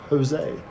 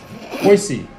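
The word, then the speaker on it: Hoese: How do you say that last name? Jose. Cody Jose? Hose? Are you... Oh, you were joking. Hoisey. We're sorry.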